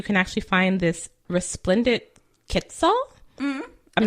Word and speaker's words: quetzal: only places you can actually find this resplendent quetzal. Mm-hmm. I'm not quite sure how to pronounce that.